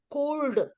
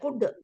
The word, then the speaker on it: could: there so every word not like you know English c u l d is there we don't say Co we say could because many letters are silent samam no letter is